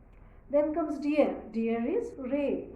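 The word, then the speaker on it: Reh: k and cin then comes dear dear is Ray r e h Ray donkey is elephant is elephant very much similar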